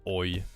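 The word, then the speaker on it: oj: no best Swedish word oi it's actually spelled with a J though it's oi it means oops I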